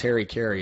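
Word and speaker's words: hara-kiri: not familiar with what what it's what we pronounce Harry Carey it's more harder to carry the definition for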